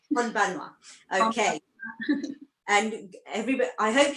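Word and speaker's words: こんばんは: So is it konbanwa? Yeah, that's right. Konbanwa.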